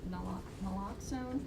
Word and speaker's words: naloxone: There are small kits called Narcan kits, and it's naloxone.